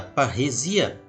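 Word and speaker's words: παρρησία: É uma palavra grega, pronunciada parresia, e significa liberdade em falar.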